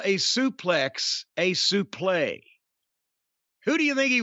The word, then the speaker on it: suplex: the the word and it is actually supposed to be suplay but it was morphed into suplex somehow but gordon solely and